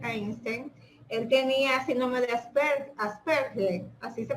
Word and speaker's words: Asperger: un famoso científico, Albert Einstein, él tenía síndrome de Asperger, así se pronuncia. Asperger.